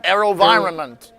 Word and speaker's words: AeroVironment: I run I I always have a trouble pronouncing that one. AeroVironment Vironment Yeah, that's right.